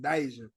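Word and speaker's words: Deejah: it yeah it's right that's how she pronounce it Deja yeah it's not even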